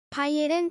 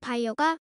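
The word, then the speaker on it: Beyer: 클리니 됩니다 답변 드리겠습니다 바이에른 잘못된 발음 이고 정확하게는 바이어가 맞습니다 이름은 페르디난트 라고 합니다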